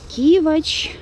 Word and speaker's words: Кивач: кстати насчёт Кивач Кивач Мне так интересно было как же вс-таки правильно ста ударение даже в Яндексе вки это Кивач вот Однако это как бы спорно Дело в том что так как названи здесь Как вы сами понимаете не русские то привычнее всё-таки И правильнее ставить ударение на первый слог то есть Кижи Кивач и